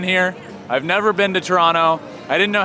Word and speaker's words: Toronto: I've never been to Toronto. I didn't know how to pronounce it before I got here. It is Toronto. Toronto. You don't pronounce the second T, it turns out.